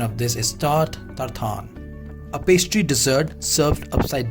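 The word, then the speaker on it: tarte Tatin: कैसे होगा इसका spelling, but literally the French pronunciation of this is tart tartan. A pastry dessert served upside down to show the fruit and the caramel sauce. So pronunciation is tart tartan.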